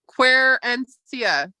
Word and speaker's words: Querencia: Querencia. Querencia. Quinceria, yeah. Yeah, it's spelled Querencia, right?